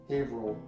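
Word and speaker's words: Haverhill: hover hover Hill ha Hill final answer is pronounced havil havil Hil I was kind of close Okay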